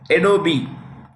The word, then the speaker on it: Adobe: chairperson of chairman of adobe the E is pronounced it's Adobe Adobe Systems is consistently